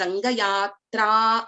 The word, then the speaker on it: Rangayatra: So we are prolonging when we are pronouncing this letter. Ya, y plus a is a Dirghasvara. So we have to prolong here. We can't pronounce this as Rangayatra. It is Rangayatra only.